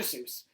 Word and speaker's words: Seuss: And it is written by someone whose name starts with Doctor and last name rhymes with Moose. Okay, you guessed it. Dr. Seuss.